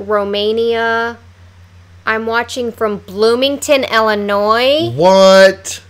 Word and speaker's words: Illinois: it's Joliet yeah or if you say Illinois they Illinois's yeah no it's Illinois which I said how